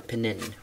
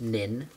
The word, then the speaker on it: Pnin: or namly nin or penin or something uh or any of those variations but it is nin this p is silent um and that took